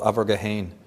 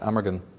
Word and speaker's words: Amergin: In Celtic tradition, one of the earliest poets of Ireland, the precursor to Merlin, was called Abergahain, or in English you pronounce it Amergin.